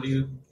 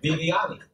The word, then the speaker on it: Viviani: chemist, a newlywed, Vivani. Vivani is right here. And that's the mic. Making sure that I pronounce the statue correctly. You didn't pronounce my name correctly. Viviani.